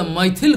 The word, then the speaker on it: Maithil: From Mithila, we speak this way, pronounce this way, Maithil Kavi, Vidyapati.